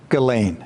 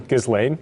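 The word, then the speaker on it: Ghislaine: is lady gasan galain I got to say it the way it is uh to be fair most is saying gizan G when I listen to her interview she says her name is galain galain so there is Lady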